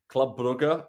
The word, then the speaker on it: Brugge: So Man City can play Club Brugge, as the locals say, but we'll say Club Brugge, Eintracht Frankfurt, Inter Milan, PSG, Leipzig, and AC Milan.